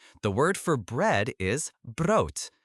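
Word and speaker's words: brood: The word for bread is bro. B R O D. Bro. Good. Notice the O sounds like in boat. Bro. And bro is neuter. So the bread. Het bro.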